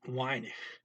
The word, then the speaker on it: weinig: The W is a V, so not good for Dutch. It got to be a W. So the word here is weinig, little, weinig.